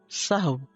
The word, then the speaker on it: سہو: سہو ہوتا ہے، سہو نہیں ہوتا. سب لوگ اپنا تلفظ بھی درست کر لیں. سہو جیسے لغو، ٹھیک ہے، کرب، نفس، سہو.